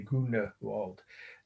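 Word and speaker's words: Grünewald: the artist's name was grunerwald or grunwald um i used to pronounce it with the e the germans would say goona walt g he was german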